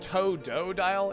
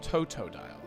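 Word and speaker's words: Totodile: I always think it's toe-do-dial. It's toe-toe. It's toe-toe-dial.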